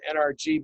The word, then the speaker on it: NRG: that now uses the name NRG, but we called ourselves NRG because if you say the letters fast, it sounds like the word energy. And we were all about putting out energy.